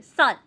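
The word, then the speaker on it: 쌀: संशयत तो हम लोग उसे थोड़ा स्ट्रांगली प्रोनाउंस करेंगे। सल सल।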